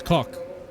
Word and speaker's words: Kok: And I didn't pronounce it right. It's Koch.